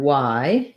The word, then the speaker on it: why: So the question word why and the letter Y are the same pronunciation. So you need that I diphthong.